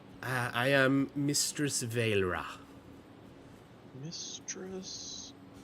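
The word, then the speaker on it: Vaelra: Uh I am Mistress Vra. Mistress. How do you spell that?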